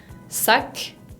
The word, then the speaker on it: sac: Ejemplo, la palabra sac. Sac. La C suena, aunque sea la letra final, suena.